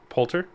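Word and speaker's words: Poulter: will potier might uh polter I thought there was an i in there my bad there is uh it's just not pronounced or Ann cool um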